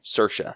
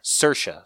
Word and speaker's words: Saoirse: do you say her name again I'm sorry Saoirse Saoirse Saoirse Ronan that's what who our money's on yep